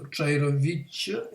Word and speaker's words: Čairović: So C with diacritical V over it is pronounced as Ch. So Čairović, and it's, here should be Ch.